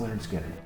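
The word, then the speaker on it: Lynyrd Skynyrd: good stuff so i'm going to go with pronounced leonard skinner all right 1974.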